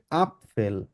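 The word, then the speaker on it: Apfel: আফেল আফেল আফেল তো এখানে একটা জিনিস খেয়াল রাখতে হবে আমরা যখন আফ ফেল উচ্চারণ করব এটাকে আমরা প এর মত উচ্চারণ করব আ তারপর হচ্ছে পে থাকার কারণে আপ হবে তারপর এফ আছে ওই জন্য আপ ফেল উচ্চারণ হবে যেখানে আপনারা ডান পাশে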